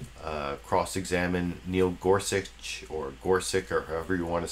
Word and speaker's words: Gorsuch: he called him gorsi most people call him Neil Gorsuch but I think his actual name is pronounced Neil gorsi that maybe that will